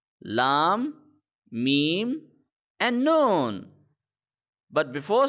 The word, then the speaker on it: Laam: So Laam is similar to and the English alphabet L. So L A A M Laam. It is somewhat similar, but it is not exactly L, because in the pronunciation of the letter L there is a kind of a twist, but in the letter Laam there is no twist.